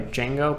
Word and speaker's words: Django: By the way, Django, but it's spelled Django.